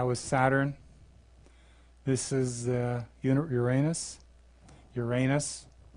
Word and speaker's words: Uranus: Uranus, that's the right way to say it, not Uranus.